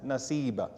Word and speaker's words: Nasiba: And her name is also Nasiba. Both pronunciations are correct. So her name is recorded as both Nusayba and Nasiba.